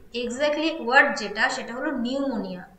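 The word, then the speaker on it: pneumonia: তো option D হয়ে যাবে আমাদের সঠিক উত্তর, পিটা সাইলেন্ট থাকে যখন আমরা নিউমোনিয়া স্পেলিংটা অর্থাৎ প্রোনাউন্সিয়েশন যখন করি পিটা কিন্তু সাইলেন্ট থাকে, নিউমোনিয়া, যেরকমটা আমরা সুনামির ক্ষেত্রে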